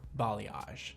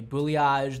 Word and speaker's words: balayage: came from but it's a interesting word that a lot of people can't pronounce they say boad they say balage they say bage like I've heard everything